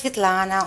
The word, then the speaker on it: Svetlana: Is that the right pronunciation? Yes, Svetlana, Alana.